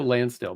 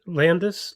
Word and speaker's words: Lansdale: attendees it was crazy is Joe land Landis what you say his name was Lansdale is that that guy